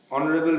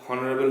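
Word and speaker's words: honourable: বুটাস is dash অনারেবল ম্যান, এটা vowel sound উচ্চারণ হচ্ছে অনারেবল, এই জন্য অ্যান। এইচ কনসোনেন্ট থাকলেও কিন্তু উচ্চারণটা ভাওয়েল সাউন্ড হচ্ছে বলে অ্যান অনারেবল।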